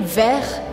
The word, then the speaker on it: vert: Mais uma vez, uma letra que a gente não fala no final da palavra. Na palavra vert, a gente escreve vert, mas a gente pronuncia vert.